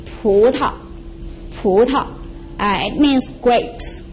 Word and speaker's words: 葡萄: No tonal mark, it's soft and short. So we combine these two characters, it's going to be pu ta, pu ta, pu ta.